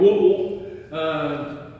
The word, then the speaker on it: Whitwell: It's a Whitwell, is how you say it. But if you're from there and you say Whitwell, if you come in out, everybody knows an outsider if they don't say it right.